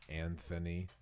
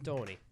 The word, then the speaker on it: Antoni: It's Anthony. it's and- Antoni. Antoni. And you have to hold your hand. Antoni. Yep. Can I say it like that? Yeah, emphasis Antoni. on the Italian for sure.